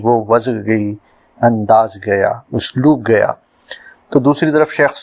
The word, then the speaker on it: اسلوب: میں حاضر ہے، اور ہمارا آج کا لفظ ہے اسلوب، جو درست ہے۔ کچھ لوگ اسلوب کہتے ہیں جو غلط ہے۔ اس کے معنی ہیں